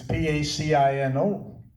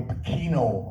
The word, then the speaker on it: Pacino: Al Pacino is doing Nobody had pronounced my name right. Because it's Pacino. And they go Pacino, and the teachers in school used to get pissed off.